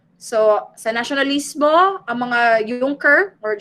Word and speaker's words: Junker: So, sa nationalismo, ang mga Junker or Junker, how do you pronounce it? It's Junker.